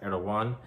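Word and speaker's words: Erdoğan: book revelation unfolding that president erdogan or correctly pronounced erdogan of turkey is a very strong candidate for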